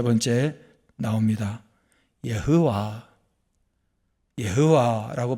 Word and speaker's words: 여호와: 여호와 여호와라고 발음하는 바로 여호와입니다.